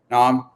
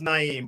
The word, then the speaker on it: Na'im: alignment collaboration and speed nom i hope i pronounce that correct how's it going today it's going pretty well you got close it's actually my name is actually pronounced naim but i i can't